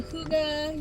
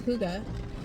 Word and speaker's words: Hygge: But literally right at the bottom it has a pronunciation of Hygge. So that's how I know that's how you pronounce Hygge yarn.